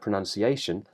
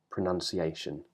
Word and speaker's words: pronunciation: it's now n nun we call that the strut vowel it rhymes with words like up pronunciation and the stress as